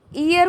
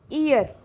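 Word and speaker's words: heir: जो एच ई आई आर लिखा है ना इसको हियर पढ़ लेते हैं। जबकि यह गलत है। इसको हियर नहीं ईयर बोलती हैं। क्या बोलती हैं? इयर। यहां पे एच साइलेंट है। एच यहां पे क्या है? साइलेंट है।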